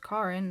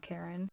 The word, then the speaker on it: Karin: I released Chad and turned to find the head of HR, Karin, pronounced Karin, not Karen, standing behind me, arms crossed.